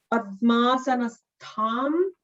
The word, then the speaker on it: Padmasanastham: Dhyayet Padmasanastham, the stha is a Mahaprana tha there.